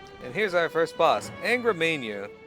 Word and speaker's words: Angra Mainyu: And here's our first boss, Angra Mainyu. Or Manu as it's supposed to be pronounced, I think.